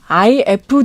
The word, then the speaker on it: iF: 거기서도 그래픽 디자인상을 받았고 하나 더 이제 더 유명한 이걸 이프라고 읽으면 안 된다고 하더라고요. IF 디자인 어워드가 독일에 또 있는데 네.